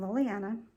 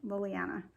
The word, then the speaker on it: Lilana: new um I'm lilana it's like two names in One Lily and Anna put together lilana um a few people sometimes will get tongue twisted when trying to say my name but it really is simple it's lillly Anna two names put together um anyway I live